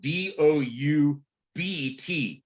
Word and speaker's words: doubt: in English is spelled D-O-U-B-T. en inglés se deletrea D-O-U-B-T. Yeah, you don't pronounce the B, it's silent, doubt.